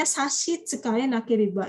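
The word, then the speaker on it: 差し支えなければ: Kalau nggak ada halangan, boleh nggak saya minta, ini bacanya sashi tsukai nakeriba.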